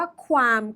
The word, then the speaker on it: qualm: Q U A LM คำ นี้ อ่าน ว่า ความ นึก ถึง ความ ดี ความ เลว ความ น่า รัก อ่าน ว่า ความ คำ นี้ เนี่ ความ